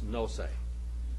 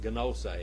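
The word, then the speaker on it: γνῶσις: It's nose. It's not gnose. That's the way I was taught, gnose. But it's nose, nose. You just swallow the gamma.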